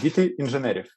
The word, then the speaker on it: Dity Inzheneriv: I mean, your band, and please pronounce the name of your band because I will screw it up. Dity Inzheneriv. Yeah, almost. Dity Inzheneriv. It's like Kids of Engineers.